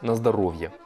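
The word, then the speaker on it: на здоровье: Alors, ça s'écrit Nazdorovie, mais ça se prononce Nazdarovia.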